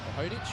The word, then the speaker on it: Hoddick: Assist to number Sam Hoddick, number 24, or Hodich or Hoddick. Haven't nailed down the pronunciation of his name just yet. Well, I know from coaching against him in the state tournaments, we call him Hoddick.